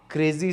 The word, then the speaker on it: Crazxy: हाँ, Crazy. This is the correct pronunciation.